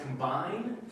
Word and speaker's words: combine: So by the way, yeah, so it's pronounced combine. Combine, yeah. And I know why you'd say combine, because the I in Spanish is an E sound, right? It's I. Combine.